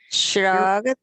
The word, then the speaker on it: shrugged: This is one of those where you double the G when Shrug. you're adding ED. So you're going to have two G's. If you're Mhm. pronouncing Oh, the yeah. G, pronouncing that consonant, shrug. So it's, Shrug. and it's going to just have a D sound. Shrug. So it's going to sound like shrugged. Shrug.